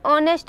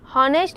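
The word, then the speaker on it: honest: एन ऑनेस्ट मैन, एन हॉनेस्ट मैन पढ़ना गलत है, एन हॉनरेबल मैन गलत है, N honourable man, N higher, तो यहाँ पे ईटीसी।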